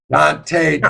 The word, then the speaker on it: Donte: Well, Donte Turner is here to tell her story on Where Were You? Well, hello. How are you doing, Donte Turner?